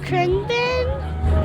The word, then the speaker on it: Khruangbin: Khruangbin.